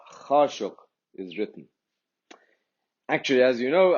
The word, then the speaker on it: Khashoggi: So the exact pronunciation in Arabic is Khashoggi.